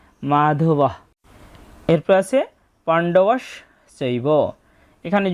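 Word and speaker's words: মাধবঃ: আমরা আগেই জেনেছি যে শব্দের শেষে যদি কোন বিসর্গ থাকে তার জন্য অর্ধেক হ এর মত একটা সাউন্ড আসে। তাই এখানে হবে মাধবাহ।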